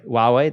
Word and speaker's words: Huawei: Hua huwe has this really cool phone Hui Huawei there you go my bad h I don't